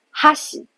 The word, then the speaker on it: 箸: 你会发现它的重音在开始的第 1 个假名哈上面，然后后面那个西的音调就降下来了，所以是哈喜。